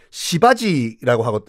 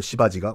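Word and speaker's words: Shivaji: 지도자 힌두교 지도자 이름이 시바지라고 했어요 어 그 강수연씨 나왔던 영화 아닌가요 그건 C 발음으로 설명을 못 드리겠네 쓸 수가 없어 가지고 발음은 똑같아요 강수연씨 나왔던 그 영화지고이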